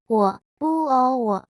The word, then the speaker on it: 我: 我叫叫 My name is 我是第三声，叫叫是第四声。例如，我叫 Amy，My name is Amy。你可以叫我 You can call me。